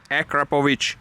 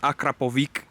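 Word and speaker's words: Akrapovič: bro by the way for you americans akrapovic hear it akrapovic that's how you pronounce it it's not akrapovic stuff like that there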